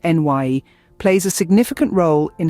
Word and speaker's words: Ni: function introverted Intuition or n actually pronounced NY plays a significant role